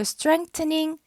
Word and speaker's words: strengthening: 또 strengthening 이게 정확한 발음이죠. th니까.